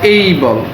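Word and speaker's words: able: এই যে অ্যাবল, এটা উচ্চারণ আমরা বলি অ্যাবল, আসলে কিন্তু অ্যাবল না, এটা হচ্ছে এই বল।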